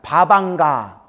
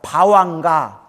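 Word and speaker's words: bhavaṅga: 따라해보세요. 바방가. 또 다른 발음 바왕가라고 돼요. 따라해보세요. 바왕가.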